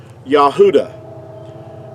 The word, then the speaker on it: Yahudah: let me give you this is like the pronunciation of the word Yahudah. Now, that's the way that you would pronounce it.